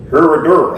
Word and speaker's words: Herradura: How do you pronounce that? Oh. Herradura. There you go.